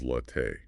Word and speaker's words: latte: Pronounce espresso as espresso and latte as latte.